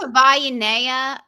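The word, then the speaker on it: Savaiinaea: I think it's Savaiinea. I know it's like Hawaii, so Savai. Okay.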